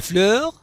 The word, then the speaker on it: fleurs: et les fleurs اس لا تنطق في الأخير.